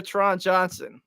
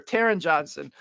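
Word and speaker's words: Taron Johnson: nickel Corner in the league it's no longer Tron Johnson so that is some unfortunate news for our or sorry Taran Johnson I mispronounce his name I'm sorry Taran but for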